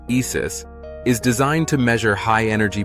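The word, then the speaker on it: IS☉IS: ISIS, Integrated Science Investigation of the Sun, pronounced ISIS, is designed to measure high-energy particles that are sped up in the sun's atmosphere.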